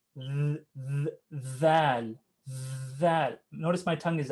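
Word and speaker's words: ذال: Now the way you're going to pronounce val, okay? It's kind of in between the letter D and Z, kind of.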